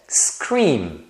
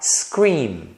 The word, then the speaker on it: scream: só primeiro exemplo é scream scream então scream termina com m quando você pronuncia essa palavra você deve fechar a boca então você deve falar scream tá vendo scream Então